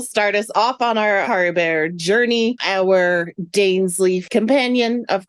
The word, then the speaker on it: Caribert: And then Caribert, who I just said that like Care Bears. Caribert. It's like a Caribert's hair.